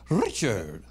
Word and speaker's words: Richard: He likes to pronounce Richard. You got to roll the R. Yeah, as long as you can roll it. Richard.